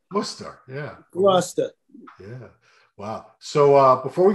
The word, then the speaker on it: Gloucester: Now, we pronounce it Gloucester or Gloucester, something like that. Gloucester. You know, most people from other areas of the USA would see that and say Gloucester.